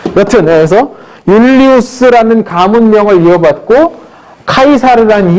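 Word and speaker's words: Caesar: 율리우스 카이사르. 라틴어식 발음입니다. 영어식은 시저라고 이거 있습니다.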